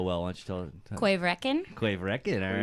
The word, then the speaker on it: Corryvreckan: third one here, Trisha pronounces it so well. Why don't you tell Quaverekin.